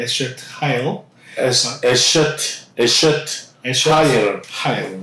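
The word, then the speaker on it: אשת חיל: 에쉐트 하일이라고 발음하는데 에쉐트 하일 에셔트 하일 하일 네.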